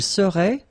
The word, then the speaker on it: serait: Il serait, final T not pronounced.